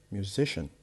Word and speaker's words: musician: We have music, musician. The stress will be affected, will be changed to the one before the last.